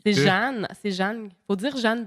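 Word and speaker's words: Jehanne: C'est Jeanne. C'est Jeanne. Faut dire Jeanne Benoît, en fait. Puis, non, mais c'est ça. Elle a écrit avec un H supplémentaire qu'on ne prononce pas.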